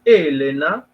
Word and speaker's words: Helena: de La Ilíada donde Helena así deberíamos pronunciar de manera correcta en nuestra lengua el nombre griego por simple incuria pronunciamos de manera grave es palabraa donde por